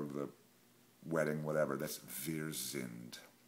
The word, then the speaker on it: wir: That's wir sind. And a German W is pronounced as a V.